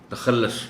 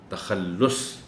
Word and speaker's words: تخلص: خیال رکھا جانا چاہیے۔ اس میں صرف بعض اوقات یہ ہوتا ہے کہ جلدی میں لوگ اس کو تخلص پڑھ جاتے ہیں، جبکہ صحیح تلفظ اس لفظ کا ہے تخلص۔ شاعر جو اشعار میں